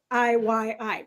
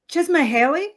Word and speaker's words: Csikszentmihalyi: really long Hungarian name that I can never pronounce. It's like Csikszentmihalyi or some. I'm not, Csikszentmihalyi, which I'm gonna just for me. Try to say that again, Melissa. You said it perfectly. Csikszentmihalyi.